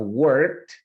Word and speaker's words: worked: Recuerda la pronunciación de este verbo. Recuerda que esa E no suena. I have worked from home since the pandemic.